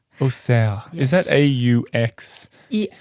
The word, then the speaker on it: Auxerre: Yes, Auxerre. Auxerre. Yes. Is that A-U-X? Is that how you pronounce it? Say it again. Auxerre.